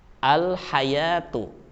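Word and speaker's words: الحياة: Tentu silakan kalian ucapkan al-hayatu. Al-hayatu. Di situ jelas tulisannya ada dan bunyinya pun juga terdengar.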